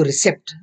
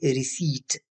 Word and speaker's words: receipt: अब रिसीट यहाँ पे अक्सर लोग उसको रिसेप्ट बोलते हैं, यानी इसमें पी प्रोनाउंस करते हैं, जबकि इसमें पी प्रोनाउंस नहीं होता। You don't pronounce P here, you simply से रिसीट। आपने इसको क्या किस तरह प्रोनाउंस करना है, रिसीट नॉट रिसेप्ट, और इसका मतलब होता है रसीद।